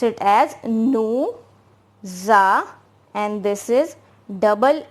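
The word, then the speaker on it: nous: have written below now n o u will be pronounced as nu right and our next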